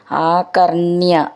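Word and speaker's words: ആകർണ്യ: നോക്കാം ആ കർണ്യ സോപി ആ കർണ്യ ഋ എന്നുള്ളത് ണ എന്ന് ഡബിൾ ആയിട്ടുണ്ട് അപ്പൊ മെല്ലെന്ന് ഊന്നി പറയണം സ അപി അത് ചേർത്തിട്ട്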